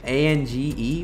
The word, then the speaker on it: Ange: A-N-G-E? What is that? It's pronounced Ange.